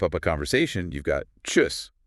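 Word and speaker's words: tschüss: And then to wrap up a conversation, you've got chus, which means by pronounced choose, kind of like juice, but with the t sound at the start.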